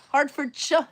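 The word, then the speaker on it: Hertford: Hardford is correct.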